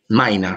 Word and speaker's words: Mina: Cuando va Drácula es Maina, se dice, pero se escribe como Mina.